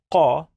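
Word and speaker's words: ق: it is va, and qa is a strong K.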